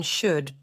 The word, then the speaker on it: should: Do not pronounce the “l” in “should” The negative is “shouldn’t”